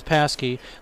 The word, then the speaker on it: Pasquette: Kane Paskey is joining us, and it is Paskey, spelled like Pasquette.